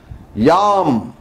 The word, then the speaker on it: ಯಾಂ: ನಮಸ್ಕಾರವನ್ನ ಮಾಡಿ ಆ ಹೂವ ತಗೊಂಡು ಯಾಂ ನಮಃಶಿವಾಯ ಯಾಂ ಎಂ ಅಂದುಬಿಡ್ತಾರೆ ಕೆಲವರು ಎಂ ಅದು ಇಂಚಲ್ಲ ಆಯ್ತು ಅಲ್ಲಲ್ಲ ಎಂ ಅಂತಕಂತದ್ದು ಕ್ರೂರವಾದಂತ ತೊಂದರೆ ಕೊಡ್ತಕ್ಕಂತ ಬೀಜಾಕ್ಷರ ಆದು ಸ್ತಂಭನವಾಗಿಬಿಡ್ತದೆ ವ್ಯಾಪಾರ ಯಮನಿಗೆ ಸಂಬಂಧಪಟ್ಟಂತದ್ದು ಎಂ ಎಂ ಹ ಯಾಂ ಯಾಂ ನಮ ಕರೆಕ್ಟಾಗಿ ಉಚ್ಚಾರಣೆ ಹ ಉಚ್ಚಾರಣೆ ಇಲ್ದೆ ಹೋದ್ರೆ